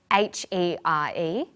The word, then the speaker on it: here: their home their family another example of a set of homonyms is h e r e and h e a r they're both pronounced the same here listen for here